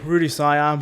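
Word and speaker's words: Rue de Siam: Yeah, Rudy Siam.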